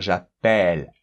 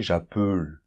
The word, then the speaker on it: j'appelle: Et ça nous permet de dire j'appelle, Et c'est normal, parce que quand un mot termine comme ça par consonne et un E muet, le E qui est avant, il doit toujours s'ouvrir. On pourrait pas dire en français j'appelle. Ça n'existe pas.